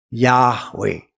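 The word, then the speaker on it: Yahweh: Kalau seandainya Yehova yang benar, enggak mungkin haleluya. Betul enggak? Haleluya. Sang enggak? di surga di sana yang dibilang haleluya bukan haleluye.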